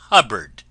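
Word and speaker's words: Hubbard: friends this is wonderful Dame hubard name that always rhymes with cupboard ever going out to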